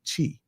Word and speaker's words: Qi: So to start off, Qi Gong, which is pronounced like cheese without the SE, Qi.